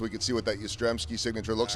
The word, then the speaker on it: Yastrzemski: And I think I know I only need to say it and not spell it, but I worked on it yesterday. Yastrzemski.